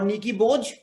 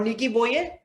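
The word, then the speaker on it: Nikki Boje: like i'll tell you do you remember hansi crunch or nikki boge sorry sorry it's hansi cronier or nikki boyer the same thing happened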